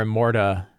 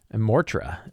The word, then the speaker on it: Immortra: Immortra is her name. I've been saying it wrong.